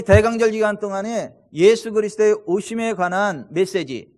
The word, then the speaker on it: 예수: 우리를 건 전해졌습니다 그래서 예수님의 이름의 이름이 예수의 여호와께서 9 원하셨다 아 그래서 히브리어 발음으로는 여 슈아 에 헬라어로 는 예수 에 우리 한걸 바람이 정확합니다 예수 영어로는 주 의 조스